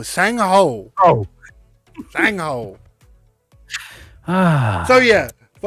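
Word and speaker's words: Sang-ho: It is literally spelled SANG. Composure. SANG dash HO. Sang Ho.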